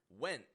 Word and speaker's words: went: When I pronounce this, my tongue does go into that position for the T or for the N. I put the tip of my tongue to the bump behind my teeth, but I do not release the sound.